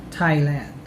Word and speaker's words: Thailand: here are examples of words with the letters t and h pronounced as t or the t sound thailand discotheque esther time thomas